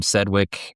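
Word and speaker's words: Sedgwick: Sedwick.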